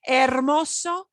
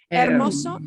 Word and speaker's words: hermoso: of pretty or beautiful ermoso is one of the words for beautiful hermoso is beautiful and notice we don't pronounce that we yeah that's a